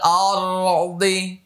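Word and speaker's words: الأرض: ওয়ামা এক আলিফ টান, ওয়ামা ফিল আরদ আরদ আরদ, একটু ধরে রাখেন, আরদ আরদ, র মোটা হলো, দ মোটা হলো।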